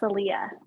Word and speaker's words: Salia: name right yes so my name is pronounced salia salia okay i want to